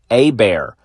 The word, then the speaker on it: Hebert: And as I said to one of my bosses, dang it, another plug, Mr. Taylor Bear. You won't know it because it's spelled Hebert, at Gulf Coast Educators Federal Credit Union.